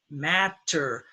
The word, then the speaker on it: matter: Matter. This is the two-syllable rule with stress. Matter, that's two syllables. 1, 2. The first syllable is stressed, so the first syllable takes the short A, matter.